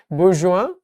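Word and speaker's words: bourgeois: আর ইংরেজি বুর্জুয়াইস নাকি জানি বলে, বাট আসলে হচ্ছে বুর্জোয়া, বিদেশি শব্দ, বিদেশের মতো করে।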